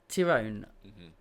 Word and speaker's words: Ty'rone: hear them I can feel their energy so tyone I said it right good I'm sorry for